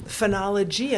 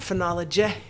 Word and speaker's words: phenology: it's like now knowing why do we say um phenology not fin well it's an open syllable we want it lengthened mhm there you go